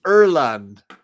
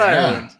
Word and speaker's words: Ireland: bleeding green and it's in Erland not Ireland Erland that's how they say it in Ireland oh in Ireland they